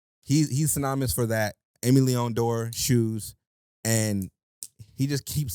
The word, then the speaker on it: Leon Dore: So I would say he's most popular for Amy Leon Dore. I'm sorry, I gotta say it correctly. Dior. ALD pronounced Leon Dore.